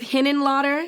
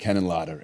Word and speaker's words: Henenlotter: Anywho, so you worked with Henenlotter. Is that how you say Yeah, it? this is a crazy podcast. I said it right? Yeah, Okay, yeah, cool. Henenlotter.